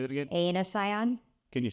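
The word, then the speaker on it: Aenocyon: Anosion. Can you spell that?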